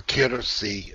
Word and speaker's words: Kirsi: K-I-R-S-I. Kirsi. Kirsi. Yeah. Yes. Kirsi. That I understand more now. I knew that that wasn't the right pronunciation.